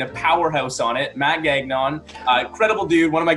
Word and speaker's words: Gagnon: You pronounce my last name Gagnon. It's Gagnon. It's French Canadian.